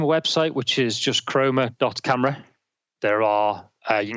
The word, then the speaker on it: Chroma: chrome that CH are om a that is chroma that's how it is spelled and it's great and it looks like